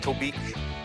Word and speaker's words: Tobique: What rhymes with Tobique? Oblique, kind of like you. Chic, like me. Reek, like you.